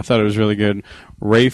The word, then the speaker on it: Ralph: it was really good Rafe fines is that how he pronounced his name the English bti isn't it spelled Ralph uh yes but yeah I